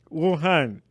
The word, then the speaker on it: Wuhan: Is that the right pronunciation? Yeah, Wuhan, Uganda Students Association in China, and previously served various leadership roles at the Uganda Student Association in China.